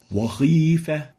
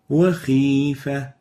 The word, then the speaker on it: وخيفة: Now the second mistake is exaggerating the velarization of the Kha, the opposite of this, especially when there is a kasra below it. Wakhifa. And the right way of pronouncing this word and this letter is وخيفة Wakhifa. So it should have the relative tafkhim characteristic in the Kha when there is kasra.